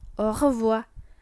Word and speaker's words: au revoir: Untuk pengucapannya bisa dilihat tulisan warna kuning, au revoir dengan R yang cadel tentunya ya.